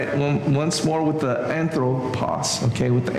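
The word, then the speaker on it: ἄνθρωπος: The accent is on the O, but some of them it's on the on, and I probably did that inconsistently.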